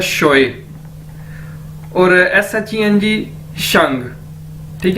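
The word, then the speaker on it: 学: एक्स को Chinese में शीन के तौर पर प्रोनाउंस किया जाता है, तो ये क्या है? शोए।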